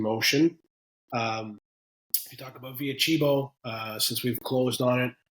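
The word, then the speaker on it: Via Cibo: Yolks, and then the one I can never pronounce, Via Chibo. Via Chibo, you did it right.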